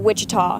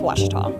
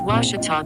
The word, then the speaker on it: Ouachita: Back in Texas, everybody pronounces it Wichita, but really it's Ouachita. Ouachita. Ouachita. How would you pronounce it? Ouachita. Ouachita. It's Ouachita Baptist University.